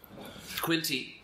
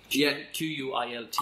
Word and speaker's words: Quilty: Quilty. Q-U-I-L-T-Y. Quilt with a Y. Quilty. It's all spelled phonetically.